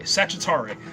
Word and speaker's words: Sagittari: Number 1, here's how you pronounce the House of Zod military district, whatever you want to call it. They're called Sagittari.